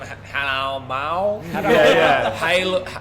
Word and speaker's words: Hadalmaw: get the pronunciation on that. Just what, Hadalmaw, or how do you say it? Hadalmaw.